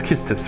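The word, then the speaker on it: Quistis: It's Kistis, right? That's how I've heard people pronounce it, now that I've been looking it up.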